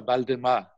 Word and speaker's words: Waldemar: publishing entity called datura Baldemar which is how the Brazilians pronounce my name and what I want